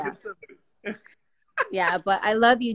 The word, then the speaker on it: Gethsemane: Yes, Gethsemane. See, I'm learning too. The best. But yeah, see, actually, you would think it's spelled how I said it, but yes, you're right.